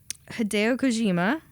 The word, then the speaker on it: Kojima: Well, Hideo Kojima.